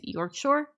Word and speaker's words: Yorkshire: from West Yorkshire tip we pronounce Yorkshire as York Shore York Shore okay I pronounce everything wrong